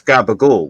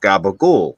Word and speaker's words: capicola: not oh oh capula because the C is pronounced almost like a g rolling off yeah we we pronounce